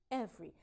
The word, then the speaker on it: every: When I read it, it seems to have 3 syllables, but it sounds every, every. There's reduction. That sound goes away.